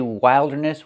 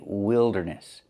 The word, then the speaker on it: wilderness: We're not going to say wilderness. We're going to say wilderness. So with this word we have the I sound like this is www. wild wilderness. And what is wilderness?